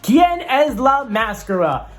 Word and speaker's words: ¿Quién es la máscara?: the mask singer mexico or as it's pronounced and i hope i don't say it wrong kien es la mascara we're gonna go through